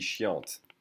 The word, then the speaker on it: chiante: Anything feminine would be chiante. You would hear the T.